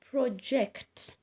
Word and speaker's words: project: on the second syllable for example project your voice project so you shall underline eject because it's the second syllable you'll emphasize on the